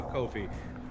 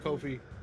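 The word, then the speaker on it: Ko-fi: donating to Rivers uh Kofi to help it coffee coffee because I can't read and I pronounce things by what they look like Stella you were able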